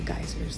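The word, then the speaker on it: Geysir: Those are the geysers that erupt. Geyser, pronounced Geyser, is actually an Icelandic word in the first place.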